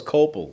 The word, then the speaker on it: Koeppel: got it really close copel cop most people in the US they can't get even close really yeah it's it's like German so I'm actually have